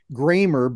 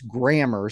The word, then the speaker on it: Grammer: freshman coming in and I I've been pronouncing his name for the last few years gramer but it's gramar so Joe Grammer played for